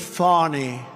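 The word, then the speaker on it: Fani: like to apologize to Fanny it's F A ni I she pronounces it fonny PA I don't see it to me it's Fanny the very first bill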